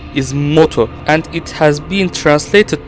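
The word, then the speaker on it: Modu: hoons would experience their golden age the correct pronunciation of his name is moto and it has been translated to into modern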